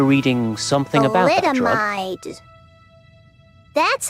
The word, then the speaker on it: thalidomide: Thalidomide.